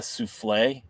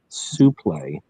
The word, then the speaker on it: suplex: I've heard some people call that a souffle, but I'm like, it's a suplex. Suplex. All right. The proper pronunciation is a suplex, and yeah, it is.